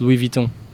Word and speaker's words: Louis Vuitton: No, I don't pronounce the U. It's Louis Vuitton.